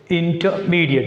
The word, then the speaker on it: intermediate: Intermediate. Here we should put stress on M.